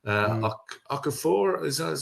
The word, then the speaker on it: Okafor: I say, Okafor that's how you pronounce it.